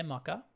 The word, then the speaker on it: Mocha: at me if you think it's mocha it probably is pronounced mocha i say maka you can say mocha we can all live